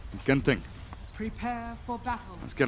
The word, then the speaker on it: Genting: If you're wondering, in Singapore they pronounce it Genting, which is bad and wrong. In Malaysia, Genting.